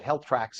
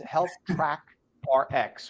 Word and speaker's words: Health Track RX: which I know they on the quick you pronounce it Health Tracks as well. Thank Yeah, you it's for joining easy. us this morning. Yeah, really, that's a good way to remember, but it's Health Track RX, right?